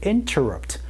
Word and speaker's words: interrupt: I'm sorry to interrupt 라고 말씀해 주시면 되고, 여기에서 발음 포인트 하나 말씀드리면요, interrupt 라는 발음에서 interrupt 라는 발음으로 얘기를 하기도 합니다. NT에서 T를 날린 소리도 여러분이 들어볼 수가 있거든요.